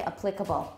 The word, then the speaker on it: applicable: first syllable.The next one, some people still say applicable. This is not applicable to the problem we're talking about. 还蛮多的 but I don't really like it, and that's not the way I say it. What's the other pronunciation? Applicable. Applicable. And please learn that one.